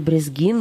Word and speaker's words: Брезгин: Андрей Брезгин, магистр религиоведения, преподаватель Торы. Вот так правильно ставить ударение, да.